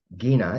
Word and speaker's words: Gina: And she'd say it's Gina. It's like Gina, but with a hard G.